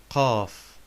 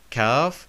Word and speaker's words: قاف: قاف. Not kaf, but قاف, and has three forms.